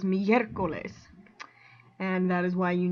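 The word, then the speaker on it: miércoles: eye okay miercoles um if you were going to say this by the rule then you would say mia coles and put the um accent stress on the o but that's not how it goes it goes migrales and that is why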